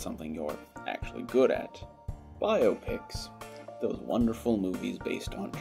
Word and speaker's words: biopic: bio graphic pictures that the correct pronunciation is indeed biopic and not biopic that some may think let me tell you